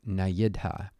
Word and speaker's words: nayidha: Now nayidha is na plus idha, and when those two come together, usually this y gets inserted, and that's just the way things got pronounced. So nayidha.